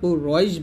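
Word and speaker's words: قريش: এখানে যদি কুরাইশ লেখছে তো উচ্চারণটা কুরাইশ বলবেন, এখানে আকারটা ব্যবহার করবেন না।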